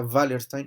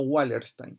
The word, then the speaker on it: Wallerstein: manuel con 2m wallerstein que se escribe con w como es alemán se pronuncia wallerstein y no wilders time jump búsquelo les va